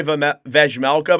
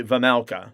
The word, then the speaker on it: Vejmelka: Just like I used to say Vejmelka, but it's actually Vamelka.